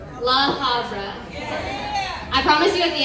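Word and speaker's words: La Habra: How do you say it? Havra? La Havra.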